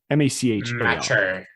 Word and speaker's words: Machar: published by a certain, I always get her name wrong, Agnes Macher, M-A-C-H-A-R.